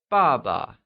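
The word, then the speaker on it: 爸爸: you say yeah good father translates as Baba and is pronounced using the falling tone can you try and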